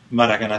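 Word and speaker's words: Maracanã: I've looked down on Maracana Stadium. Is that the way to pronounce it?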